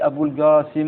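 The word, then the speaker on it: أبو القاسم: D'accord, et si c'est pas prononcé le ha, ben il dit Abul Qasim avec un ga à la place du qaf, et ça c'est un des dialectes de la langue arabe.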